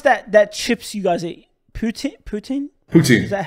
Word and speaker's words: poutine: But yeah, how do you pronounce that chips you guys eat? Poutine. Is that how you? Poutine?